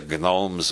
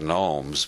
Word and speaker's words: gnomes: prime minister called the Gnomes of zorich everybody else pronounced is that gnomes but Harold Wilson believed the G should be pronounced he said the Gnomes